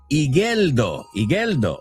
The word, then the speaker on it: Igeldo: K Roller Girl says, you don't pronounce the U in Igeldo o Igeldo. Ahora sí no hay U.